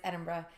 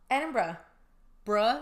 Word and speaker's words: Edinburgh: but anyways go ahead I'm pretty sure it's edinb BR so then Ed how I said edinb edinb bruh like bruh yeah like bruh edin BR even though it's spelled Berg yeah get it together Scot